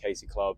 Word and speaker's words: Casey Club: So it's like Casey and then Casey Club, like spelled phonetically.